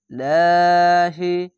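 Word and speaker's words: ٱللَّهِ: বিহাবলিল লাহি, খাড়া জবর এক আলিফ টেনে পড়বেন এবং আল্লাহ লেখা থাকলে ডান পাশের অক্ষরটি নিচে থাকলে পাতলা করা হবে লাহি, ওপরে যদি আসে তাহলে লহি, নিচে থাকলে পাতলা করা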